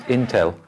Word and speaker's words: Intel: is a hmm okay Intel feeder ain't exactly how it's written either wolf it's not until it's Intel candles why why because it's short for in telephone or in telecommunications so it's not really